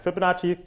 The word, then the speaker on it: Fibonacci: Well, Fibonacci, he actually studied in North Africa, and Fibonacci kind of rhymes with Versace, except because it's a sequence, it actually has a verse.